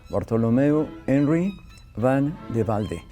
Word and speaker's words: Bartholomeus Henri van de Velde: Bartholomeus Henri van de Velde. I will correct you a little bit because it's Okay. almost perfect. Oh, yes? Bartholomeus Henri van de Velde.